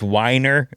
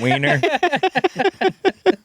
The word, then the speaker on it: Winer: nice to meet you pronounced Winer not weiner he was a pretty